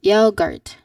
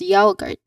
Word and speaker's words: yogurt: Now the common mistake here is that the a sound is incorrect. People say it as yoart. Yaoart. Very subtle difference but um it can really impact how you say the word. It's yaart. They pronounce it as ya guard. But we want the yo sound not yao.